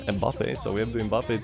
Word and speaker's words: Mbappé: And then on the other Team Blue we have Kylian and Mobutu. Sorry, my bad. Terrible pronunciation. Mbappé.